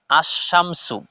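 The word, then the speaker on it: الشمس: আছে আল কামারু আশামসু কিন্তু দেখেন যে প্রথম শব্দ যে আমি উচ্চারণ করলাম আল কামারু এই জায়গার মধ্যে লাম শব্দটা স্পষ্টভাবে উল্লেখ হচ্ছে লাম শব্দটাকে আমরা স্পষ্টভাবে পড়ছি আর শামসুর মধ্যে এ জায়গার মধ্যে লাম শব্দটা লেখায় এসেছে কিন্তু উচ্চারণে আসছে না লেখায় আসছে উচ্চারণে আসছে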